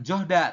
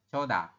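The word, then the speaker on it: 좋다: di akhir kayak gini ini bukan johda tapi dibacanya coda Saya ulangi dibacanya Bukan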